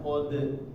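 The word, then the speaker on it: قَدْ: Ini masuk rem. Masuk namanya ada hentakan suara di sini ya. Itu namanya yang Anda bilang tadi hamzah. jangan ada hamzah matinya. Qad. Nah, tapi lepas. Qad aflaha. Qad aflahal mu'minun.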